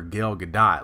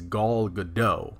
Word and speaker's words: Gal Gadot: heard that from but I had heard that that was how her name was pronounced was goal and good Godot like the tee was silent and I remember being